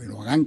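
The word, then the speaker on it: Erdoğan: cambiando al otro lado el señor Erdogan, o Erdogan, como lo pronuncian más, suprimiendo un poco la D, sí, porque se está queriendo y acercándose a Putin, ¿no es cierto?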